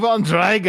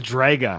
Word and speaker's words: Drago: how he does Drago it's drga like with in Russian with like an O at the end they always say it like an A and I don't know